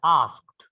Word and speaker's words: asked: Okay, just we have to pronounce it as asked. Just ड हा काय करायचा आहे, सायलेंट करायचा. Okay, asked. Then asked याचा अर्थ होतो विचारला.